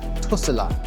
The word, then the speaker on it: Tesla: In China, people here actually do pronounce it Tusala.